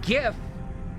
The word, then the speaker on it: GIF: sound I'm saying that specifically in GIF it is hard and it will always be hard just like me Mo